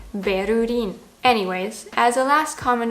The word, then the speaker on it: Berlin: Because in German we say Berlin. So in Japanese, if we went by sound, something like Bearin would be way more accurate than the way it is actually written, Berurin.